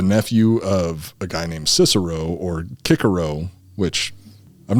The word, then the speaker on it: Cicero: That's the wrong way to pronounce it. To be perfectly it's the honest, modern way to pronounce it, right? it's the modern way to pronounce it is to say Cicero, but it would actually be Cicero.